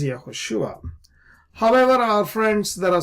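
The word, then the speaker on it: יהושע: Now let's look at this word Yahushua, right? So this is how it is pointed. These are the dots and dashes that are there, the nikud that make us read this word as Yahushua.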